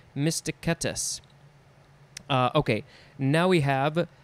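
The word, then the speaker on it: mysticetus: is balayna uh again i think the c's in these latin words are a k sound like a k sound mysticatus uh okay now we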